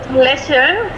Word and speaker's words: lächeln: Lächeln. Lächeln. Lächeln. Lächeln. Lächeln. No? Lächeln. Lächeln. Lächeln. Yeah, so lächeln. With the L and the N. Ja. Lächeln.